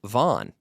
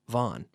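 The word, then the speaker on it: Vaughan: n and they hear Vaughn like vo n that's how we pronounce it in English Vaughn but if they if they see VA ugh N and here Vaughn many Spanish people will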